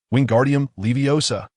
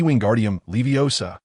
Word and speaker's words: Wingardium Leviosa: It should be Wingardium Leviosa. You need to elongate the gar and slow down the pace.